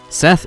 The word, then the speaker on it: Seth: yeah let's do it Seth is really really powerful also I don't think he pronounced as a Seth it's like set because I think it's